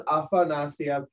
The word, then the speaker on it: Afanasyev: It's Afanasyev. But it's that was a young Frankenstein joke. It's now pronounced Igor.